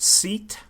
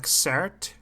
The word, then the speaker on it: SEAT: Seat, but it's pronounced Cert. It's Spanish.